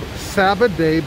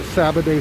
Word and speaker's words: Sabbaday: But this brook is called Sabbaday Brook. It's spelled S-A-B-B-A-D-A-Y.